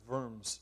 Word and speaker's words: Worms: 1521 the diet of worms is held w-o-r-m-s pronounced v not w um it's a place